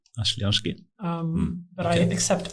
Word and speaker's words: Oshlyansky: The name is pronounced Oshlyansky. Oshlyansky. But I accept Oshlyansky because it's easier for people to say.